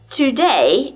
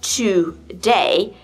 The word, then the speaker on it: today: weak here's another example today isn't pronounced to day but this word is pronounced as today today the weak stress is that and the primary stress is day today or take these